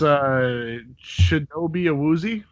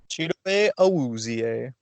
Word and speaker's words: Chidobe Awuzie: I'd never pronounce his name right either. You want to say his name, somebody? It's Shinobi Awuzie. There we go. Chidobe Awuzie.